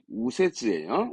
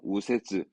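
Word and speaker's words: 右折: 좌우는 사유지만 우회전은 우세즈예요. 우세즈.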